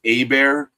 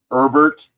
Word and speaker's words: Herbert: 19th it is Lucas I've heard it pronounced Abear but Herbert Herbert it's come on man that James Kirk knows what that is but that's minus - 8 132.